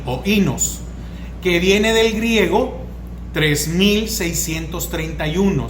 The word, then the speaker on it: oínos: vino viene es oínos, es el griego, es oínos, así como lo escucha, O-I-N-O-S, acento en la I, oínos, que viene del griego